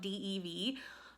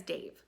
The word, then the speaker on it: Dev: the last clip because it's spelled Dev but the audiobook says Dave so I've now come to think of him as Dave so we're just gonna